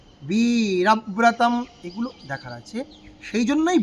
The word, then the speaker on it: বীরব্রতম্: পরম সাধনং, পরম সাধনং নাম বীরব্রতম। আমরা বলি বীরা, রতে টান নেই, টানাবো কিসে? বীরব্রতম, বীরব্রতম, এগুলো দেখার আছে।